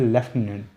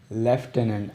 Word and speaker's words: lieutenant: अब इसके जो प्रोनाउंसिएशन है इसकी, वो है लेफ्टिनेंट, लेकिन जो स्पेलिंग है वो दूसरी तरह आते हैं।